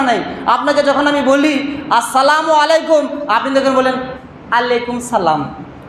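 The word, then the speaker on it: السلام عليكم: যাও কথাটা বুঝতে পারলেন শব্দগুলো স্পষ্ট উচ্চারণ না করলে মানেটা একদম উল্টোপাল্টা হয়ে যাবে আপনি কাউকে যদি বলেন সালামু আলাইকুম সালাম দিলেন সালামু আলাইকুম মানে আপনি কি বললেন জানেন যে তুমি তাড়াতাড়ি মরে যাও মরে যাও মরে যাও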